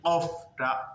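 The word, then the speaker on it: قاف: এই কফটা উচ্চারণ করার সময় ভিতরে গলার শেষের দিকে ভারী কাঁপে এবং উপরের দাঁত নিচের ঠোঁটের পেটের সঙ্গে এসে মিল হবে যেমন।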